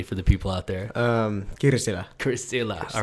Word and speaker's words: Kirsila: Kirsila.